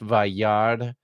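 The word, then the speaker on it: וַיַּרְא: Notice the quiescent aleph on the end of this. You don't pronounce it. It's just Vayard, and he saw.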